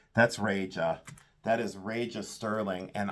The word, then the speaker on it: Reja: Reja, but it is R-E-J-A. And some people would say, well, is it Duje or is it Deja? No, no. It's R-E-J-A, Reja. Reja sterling. That's what I've always pronounced it.